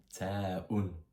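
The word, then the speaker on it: ت: On dirait un emoji qui sourit mais cette lettre c'est l'équivalent du t en français et ça se prononce taun.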